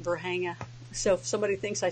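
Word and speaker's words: Varginha: And it was Dr. Lear that taught me how to say it, Verhanga.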